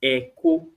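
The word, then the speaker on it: ẹkọ: The E sound, you must put a dot in order for you to pronounce this word as echo. If there is no dot, you are simply pronouncing Èkó, which is Lagos.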